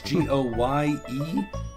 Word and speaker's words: Goemon: Goemon Sushi House? Yep. My Japanese is not very good. I apologize. Goemon Sushi House. That's Goyemon.